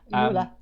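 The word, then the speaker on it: Euler: um there we go k saying it's pronounced oil Okay so um I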